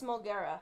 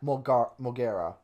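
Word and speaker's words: Molgera: It's Mulgara. Mulgara. Because I kept saying Moldorak.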